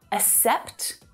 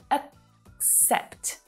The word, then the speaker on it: accept: So it's not accept, but accept, accept. So there's a stop on that k sound to help you ease into the next syllable. Accept. The first syllable is unstressed, right? So it reduces down to that schwa sound. Accept. The second syllable is the stronger one.